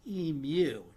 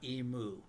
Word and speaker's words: emu: Note to Americans and Doug, this bird is pronounced emu, not emu.